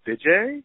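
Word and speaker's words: Vijay: said yeah I said is his name BJ he said yeah yeah that's how you say it and uh so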